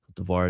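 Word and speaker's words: Côte d'Ivoire: Kotvoir is their how you say it in French.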